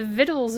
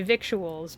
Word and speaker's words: victuals: viddles of noon and I did not know that that's how you would pronounce it if I were shown that word in a book I would say victuals but it's vits huh but didn't you